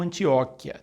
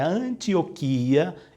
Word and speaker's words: Antioquia: que confunde muita gente a pronunciada como antióquia mas ela chegou até nós via o latim então pelo latim ou se não cai no ó o acento recai no a palavra Latina tão como nós Recebemos a palavra via língua latina a expressão correta para nós é Antioquia e não antióquia então quando você for